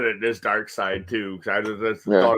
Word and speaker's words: Darkseid: It's like in Dark Side or Dark Seed. Like people like pronounce that shit differently too. But it's obviously Dark Side. It's only like it would only be seed if the I was before the E.